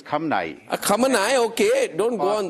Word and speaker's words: Khamenei: As far as Khamenei, it is not Khomeini, it is Khamenei.